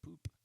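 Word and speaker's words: Pupp: Essentially, the hotel was called the Grand Hotel Poop, but it's spelled Pup, but they call it Poop, and don't see anything wrong with that.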